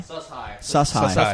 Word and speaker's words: Sus-Hi: And this is pronounced sus high. Sus high.